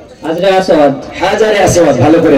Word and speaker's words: হাজরে আসওয়াদ: হাজরে আসওয়াদ, ভালো করে উচ্চারণ, হাজরে আসওয়াদ সঠিক উত্তর।